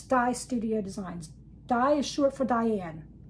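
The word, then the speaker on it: Di's Studio Designs: And it's it's it's uh pronounced Dyes Studio Designs, not D or this. I just thought I'd die apostrophe s die studio designs.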